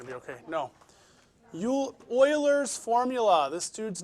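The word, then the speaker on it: Euler: tomorrow you're going to be okay no you Oilers formula this dude's name looks like ERS but it's actually pronounced Oilers okay and this is his formula apparently I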